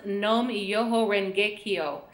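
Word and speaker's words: Nam Myoho Renge Kyo: We're going to look at the first one in green, and it's pronounced Nom Yoho Rengekyo.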